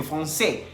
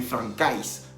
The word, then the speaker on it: français: También comentamos que français se escribe con AI. La AI en francés se pronuncia E. Entonces, por eso dice Tomás que je suis professeur de français. Y no está diciendo, en ningún momento está diciendo que je suis professeur de francais. Así no se dice.